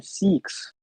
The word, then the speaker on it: Sikh: because the most uh attacks were on on Sikhs I'm sorry I'm saying that wrong I think